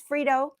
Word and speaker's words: Frito: This is Frito, spelled with a T. Sounds like a D because I'm lazy.